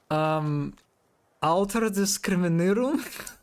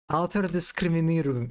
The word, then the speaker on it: Altersdiskriminierung: Do I remember the pronunciation? Alterdiskriminierung? No, that's wrong. That's Alterdiskriminierung, right? No. God damn it. Okay. Do I remember Altersdiskriminierung.